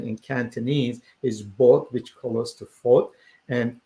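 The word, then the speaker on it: 八: Again, when it comes to the pronunciation in Cantonese is bot, which close to fort, and that means rich.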